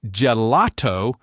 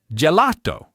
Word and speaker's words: gelato: The vast, vast majority of Italian words put the stress on the second to last syllable. This is also called the penultimate syllable. This single simple rule is what creates that classic Italian flow. Just listen for it. It's not gelato. it gelato, not soprano, it's soprano.